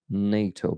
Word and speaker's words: NATO: fito uh but I think it's related to Nato being accepted to to to Ukraine yeah that's